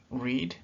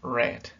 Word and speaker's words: read: sería el verbo read lo que cambia solamente es su pronunciación en la forma base se va a pronunciar read y en las demás formas sería Red Red luego tenemos estos que